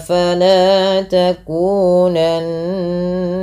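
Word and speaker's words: فَلَا تَكُونَنَّ: Kemudian fala takunanna minal mumtarin. Fala mad tabi'i, lanya 2 harakat, takunanna nun berharakat tasydid dibaca dengan gunnah. Cara membacanya dengan menahan bunyi suaranya. Fala takunanna, ditahan.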